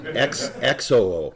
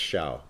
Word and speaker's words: Xiao: XOO. No, it's Xiao.